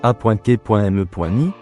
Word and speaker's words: achéménide: L'empire achéménide, prononcé A.K.me.ni, est le premier empire perse de l'histoire.